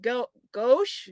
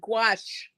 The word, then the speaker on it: gouache: I have painted with go gauche gouache squash so squash but gouache you pronounce it g-w-a-s-h that's how you would pronounce it's a French word okay someone says Nora